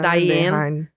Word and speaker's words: Dehaene: Eu acredito que a pronúncia seja Dehaene. Uhum. Ou muitos já vi falando Diane. Se escrever Diane é melhor, mas Stanislas.